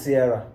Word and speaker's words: Cierra: that sister was named Cierra, which rhymes with Cierra. It's Cierra.